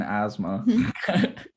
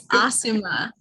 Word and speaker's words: Asuma: And then Choji, Shikamaru, and then Asma. No, it's Asuma.